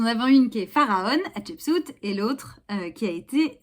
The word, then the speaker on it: Hatshepsut: Non, ça n'est pas si difficile à prononcer. Chapeau, si vous voulez. Shep, comme un cep quand on a un cheveu sur la langue, vous voyez, voilà. Soute d'un bateau.